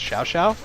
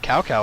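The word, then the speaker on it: Cao Cao: there three gate captains cow cow is pronounced shao xiao they pronounce it cow cow on here oh boy defeated oh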